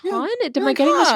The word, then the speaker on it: Kahn: So I thought, I thought it was Kahn, and then I looked at that, I was like, Kahn?